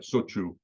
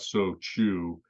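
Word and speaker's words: shochu: But sochu is another example. It's not so chu, it's sochu, and it's kind of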